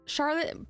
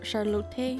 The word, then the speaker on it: Charlotte: it's Charlotte but it's I'm pretty sure it's supposed to be pronounced the more German way so I think it's supposed to be more like charlot wait I can't say it in German charlot I guess how do I pronounce that better in German oh Moka magika yes sorry charot Charlote maybe um but also specifically